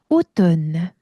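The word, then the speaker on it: automne: 자, 그리고 m과 n이 같이 왔을 때는요. M을 그냥 지워 버리세요. N만 발음하시는 거예요. 오든.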